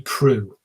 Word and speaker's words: Proulx: that was written by Annie Prue Prue is spelt PR o UL x Annie Proulx the Taurus the Bull